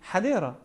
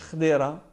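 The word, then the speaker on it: حديرة: وطمس مسمياتها العربيه اذا خديره مكتوب بالعربي حديره مش خديره الاسم العربي الاصلي هذا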